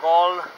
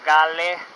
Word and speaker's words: Galle: Estamos en Gol o Gale, dependiendo del idioma en el que lo pronunciemos.